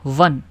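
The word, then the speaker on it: one: फिर ₹1 note वन। अब जो ओ एन ई वन है उसकी स्टार्टिंग साउंड कैसी है? ऐसे है। वन ठीक है? वन व है व। कंसोनेंट है व तो अ लगा है।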